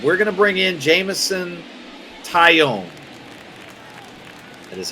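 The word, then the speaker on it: Jameson Taillon: But we're going to bring in Jamison Tyone.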